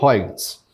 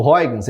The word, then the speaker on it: Huygens: Existem várias pronúncias, Huygens, eu falo Huygens, tá?